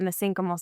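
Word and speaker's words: mesenchymal: There are messenymal stem cells. Some people pronounce it messenal stem cells.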